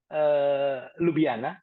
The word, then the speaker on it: Ljubljana: Ya, Orange Tree ini dibangun di Ljubljana, itu bacanya Ljubljana di Slovenia, mantannya Yugoslavia, dan dibangun awalnya untuk medical.